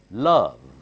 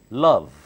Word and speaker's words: love: carefully mother mom mommy love the upper teeth bites the lower lip and blow out the love do not say lo repeat exactly what you